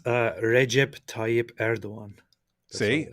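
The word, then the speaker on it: Erdoğan: It's Recep Tayyip Erdogan.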